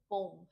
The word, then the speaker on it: poem: ठीक है, इसका जो प्रोनाउंसिएशन है वो पोम है ना, पोयम नहीं कहना है, इट्स पोम.